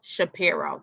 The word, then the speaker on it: Shapiro: H let's say his name right Saro Shapiro Shapiro that's how you say it Shapiro so Jay-Z's